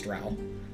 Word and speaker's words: drow: Okay, Seldorine Drow Paladin. Drow. I think it's Drow. I pronounced it Dro when I was a kid. And I'd never heard anyone else say it.